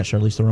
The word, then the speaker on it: Charlize Theron: Yeah, Charlize Theron.